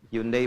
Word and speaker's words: Hyundai: Hyundai bacanya Hai.